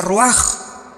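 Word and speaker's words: רוח: Se pronuncia roaj.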